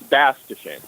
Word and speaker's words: Bass-Deschenes: It's and let me just correct your pronunciation real quick. Yes. Don't worry, it's happened to me all my life. But it's Bass-Deschenes.